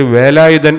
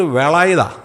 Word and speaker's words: വേലായുധൻ: വേലായുധൻ എന്നുള്ളത് പറയുന്നത് എങ്ങനെയാ വേല എന്നുള്ളത് വേള എന്നായി പറയത്തുള്ളൂ അത് ഫോണറ്റിക്സ് എന്ന് പറയുന്ന ആ ഉച്ചാരണശാസ്ത്രത്തിനകത്ത് ലാ ഇല്ല അപ്പോൊ ഇങ്ങനെ ചെന്ന് വിളിക്കുകയാണ് അപ്പം ചേട്ടൻ നോക്കി ഇവന എന്നാ പറ്റി എന്നെ വേലായുതൻ ഇന്നലെ വരെ മര്യാദയക്ക് വിളിച്ചുകൊണ്ടിരുന്നവനാ ഇന്ന് വന്നിട്ട് വേളായുതാ അത് തമിഴന്മാർ വിളിക്കുന്ന പോലെ വിളിക്കുന്നു അപ്പോ ഇവന എന്നാ